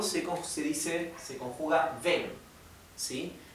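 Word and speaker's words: vem: en portugués el verbo venir es vir si y en el imperativo se se dice se conjuga ven si Y aunque se escribe con m se pronuncia como una n ven ven a felicid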